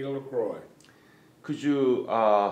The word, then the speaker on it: LaCroix: lacroix could you uh spell your last name please